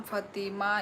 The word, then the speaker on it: फ़ातिमा: हमारे नाम फ़ातिमा इस तरह प्रोनाउंस किया जाता है।